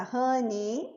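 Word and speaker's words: honey: querida suire Rani também uma coisa importante da palavra Rani é a pronúncia que eu ouço muitas vezes a gente fazendo esse Ei Ane não tem esse Ei todas as palavras maioria das palavras terminadas em Y em som de i Rani Rani Suggar al Rani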